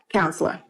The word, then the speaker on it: COUNSLR: Because it sounds like counselor, but it's spelled a little. Yeah, it's COUNSLR, counselor.